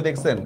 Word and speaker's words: দুঃখ: বিসর্গ এটা শব্দের মধ্যে থাকলে দীপ্ত উচ্চারণ হবে। দত্ত মানে বুঝছেন তো? দুইবার উচ্চারণ হবে। যেমন দেখেন দুঃখ দেখছেন দুইবার উচ্চারণ হইছে।